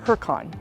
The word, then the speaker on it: Hurricane: it certainly didn't hurt that I'd heard of Hurricane Utah before which is spelled like hurricane but pronounced heran by the locals anyway it's the setting of